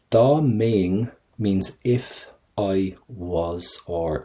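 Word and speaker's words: Dá mbeinn: Da maying, right? So I'm going to get an ing sound. Da maying means if I was, or if I were.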